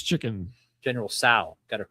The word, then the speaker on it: Tso: General Tso's chicken. General Tso. Got it correct. Okay. Tso. Well, anyway, hot chicken. The S is silent. Spicy chicken. It's T. It's spelled. There's a T in there.